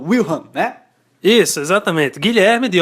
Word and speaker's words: Wilhelm: onde Guilherme de Orange, como é que se pronuncia? Wilhelm, né?